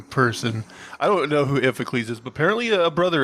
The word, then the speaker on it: Iphicles: I don't know who Iphicles is, but apparently a brother of his. Sounds like a made-up word. It's one of Zeus's offspring. It might be pronounced differently. It's Iphicles. So, who knows?